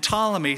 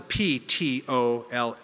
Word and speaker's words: Ptolemy: Seleucus was given the area of Syria and Babylonia, and Ptolemy, spelled with a P-T-O-L-E-M-Y, Ptolemy was given Egypt, North Africa, and Arabia.